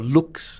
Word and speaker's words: Lux: The album Lux or Looks, I think, as it's pronounced in its Latin reference.